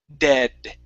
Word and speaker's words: dead: try and do that try and pull your tongue back and create that that extra D sound at the end of the word so it's dead dead Okay so there yeah